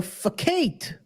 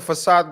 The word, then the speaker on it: facade: video is clipped and people hear you pronouncing the word as fate I'm not going to defend you it's a okay because it's a aad guys it's a aade yeah it's not true